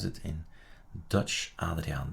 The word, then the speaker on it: Adriaan: Adriaan de Groot is the correct pronunciation.